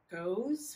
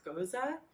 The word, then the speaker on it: Gose: style of beer um it's not pronounced goes which is how i'd always pronounce it it's goza it's from germany specifically